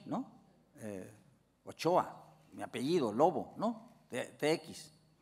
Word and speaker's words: Ochoa: y y y y la TX en en la región bascongada eh se pronuncia como la che no eh o Choa mi apellido lobo no